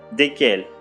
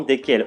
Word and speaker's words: desquels: de laquelle desquels desquels attention s'il vous plaît desquels au masculin desquels au féminin le s qui se trouve au milieu ne se prononcent pas c'est pronom relatif ne